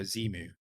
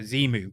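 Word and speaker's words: Xemu: pronounce it so uh i think he said like zen on so zemu so z move let's call it z move from now on so zemu will will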